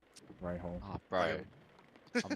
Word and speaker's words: Rahal: It's Rahal. Ray Hall.